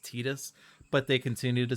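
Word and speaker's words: Tidus: Fantasy 10 says that the protagonist's name is Titus, even though subsequent media has revealed that it's in fact pronounced Tetus, but they continue to say Titus because that's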